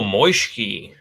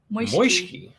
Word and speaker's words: Moishki: Oh, Moishki. It kind of rhymes with whiskey. Oh, kind of does. Yeah, I like that. Moishki.